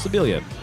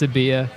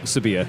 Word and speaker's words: Sebilia: want to go with the Spanish pronunciation, throw an extra L in there, and be Chris Sebilia.